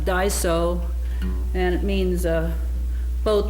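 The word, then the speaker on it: dgħajsa: I'm not sure how it's spelled but it's pronounced Daiso and it means a boat that takes the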